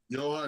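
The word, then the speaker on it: Jahan: Johan. That's how you pronounce it.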